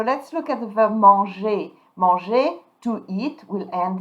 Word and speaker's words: mange: So, don't pronounce the E, je mange, don't pronounce the ES, tu manges, il mange, elle mange, on mange.